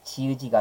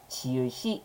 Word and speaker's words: 지읒이: 시작하는 조사 만났을 때 시옷으로 열어마는게 관습적으로 부러졌기 때문에 지의지가 아니라 지읒이 이렇게 발음을 한다는 거죠 다만 일종의 예외로